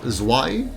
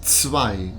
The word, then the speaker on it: zwei: And remember for zwei, that again, it's not zwei, it's zwei.